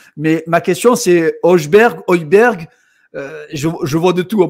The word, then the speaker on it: Højbjerg: En gros, ça se prononce avec un H aspiré, c'est Højbjerg. En gros, le G, on ne le prononce pas vraiment, c'est Højbjerg.